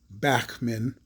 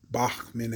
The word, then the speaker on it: Bachmann: set or this particular brand bachmann or bachmann as we would say here in the united states in england they would pronounce it bachmann so i believe that to be the proper or correct pronunciation for it in any event this